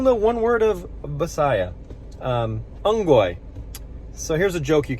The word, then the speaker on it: unggoy: Somebody will laugh at that joke and you won't actually realize that you're learning and repeating the word unggoy. U-N-G-G-O-Y is the English pronunciation.